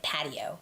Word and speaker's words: patio: Some people I hear say pay show, yeah, but I read it as pa- patio patio. Pa- is where the stress is.